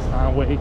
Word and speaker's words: Steinway: Steinway, same way.